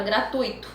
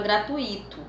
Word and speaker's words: gratuito: acontece com a palavra gratuito muitas pessoas tendem a pronunciar acentuando um possível e ato gratuito mas na escrita formal é preciso perceber que esse ato não existe então o que foi